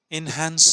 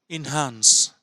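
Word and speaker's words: enhance: এনহ্যান্স creativity in writing এনহ্যান্স নয় ইনহ্যান্স এনহ্যান্স ইনহ্যান্স উচ্চারণ করতে থাকবেন এই ইনহ্যান্স শব্দের বেশ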